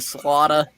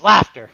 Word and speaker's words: Slaughter: Slaughter. It's Bill's laughter. finally The S called is in. silent. It's laughter. The S is silent.